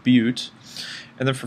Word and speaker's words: but: Okay, it's spelled butt, but it's spelled bute, or it's pronounced bute.